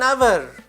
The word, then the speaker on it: hour: It takes an hour from here to go to market. Now I have used an, although the word begins with H, because here H is silent.